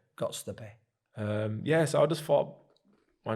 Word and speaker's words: Göztepe: Göztepe. Göztepe.